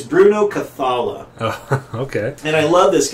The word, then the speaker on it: Bruno Cathala: it's uh it's by uh Bruno uh not Bruno cthulu how do you pronounce his name it's almost Bruno cthulu it's Bruno cathala okay and I love this guy he did